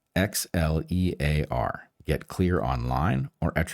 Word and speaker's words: Xlear: That's Xlear with an X, Xlear.